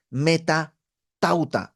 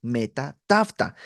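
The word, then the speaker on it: μετὰ ταῦτα: son eh en griego la frase después de esta es meta tauta o Met tta depende de quién fue tu maestro de griego es como se pronuncia pero es así como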